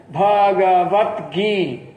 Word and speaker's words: Bhagavad Gita: Terceira sílaba, qual que é? Vat? Não, no sânscrito não se separa assim. Toda sílaba acaba na vogal. Então o que vai acontecer? Esse T, ele vai se juntar na outra sílaba e formar uma sílaba só com um conjunto consonantal de duas consoantes.